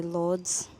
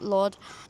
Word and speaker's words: Lourdes: We always just say Lourdes, but that's not how it's properly pronounced, but Lourdes.